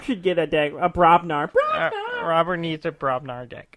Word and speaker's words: Brobnar: Because one of my deck has Dis with them, the other one has Brognar.